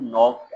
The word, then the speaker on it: knocked: Who knocked at the door? दरवाजे पर दस्तक किसने दी? In knocked, K is silent.